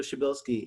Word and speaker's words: Chabelski: ado please welcome chabelski thank you hey thank you for pronouncing my last name correctly it looks just like it's pronounced yes so first and